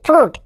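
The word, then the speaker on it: fruit: এই ওয়ার্ডটিকে উচ্চারণ করতে গিয়ে 99% লোক ভুল উচ্চারণ করে। আরেকটা টিপস শেখা হয়ে যাবে, এফ আর ইউ আই টি ফ্রুট।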